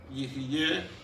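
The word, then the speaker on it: יהיה: Y también quise ponerles la pronunciación para que sepan cómo se pronuncia Yihye, Hayá, Ve o Ve.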